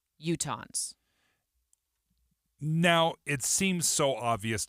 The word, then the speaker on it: Utahns: Utah, U-T-A-H-A-N-S is how they spelled it out.